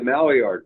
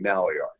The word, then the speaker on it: Maillard: Center number two the Maillard reaction and I get criticized in that pronunciation by the way it's a French word means new you but